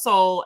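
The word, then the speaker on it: Soule: soul or Charles soul I always say his name wrong because that e always throws me off Charles soul and uh Cave and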